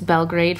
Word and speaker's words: Belgrade: I've been really struggling with my pronouncing of that. It's Belgrade for anyone who's wondering.